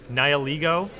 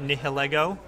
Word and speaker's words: Nihilego: Also, guys, we're going to see Smeargle, and I know I've been saying it wrong, Nihilego, not Nihilego, as I've been told on Twitter.